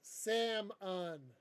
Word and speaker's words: salmon: a good one too it's pronounced sam on but it has an l in it it's salmon salmon rusty